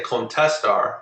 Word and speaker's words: contestar: In Spanish, when a word ends in an R, the natural stress goes on the last syllable. So all of these words right here, all of the infinitives, the stress is going to go at the end of the word.